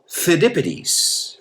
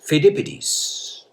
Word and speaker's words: Pheidippides: A Greek soldier, you're going to have to forgive my Greek pronunciation here, but it's Pheidippides. Pheidippides.